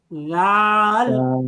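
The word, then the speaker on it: ذال: যাবে না বলতে হবে জাল বলেন যে আমারটা ঝালও বলা যাবে না ঝালও বলা যাবে না তাহলে আমি জাল কিভাবে বলব তাদের জন্য সলিশন হচ্ছে মাখরাজ অর্থাৎ জিহ্বার আগা মিলাবেন অটোমেটিক উচ্চারণ হবে তাহলে বলেন মাশাল্লাহ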